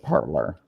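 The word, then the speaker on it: Parler: mean parlor and it's spelled parlay but they pronounce it parlor exactly amazing this is a scream i know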